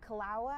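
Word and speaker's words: Kīlauea: So not too much more that I know on this, but it's a volcano, Mount Kalawa, I believe is how you pronounce it.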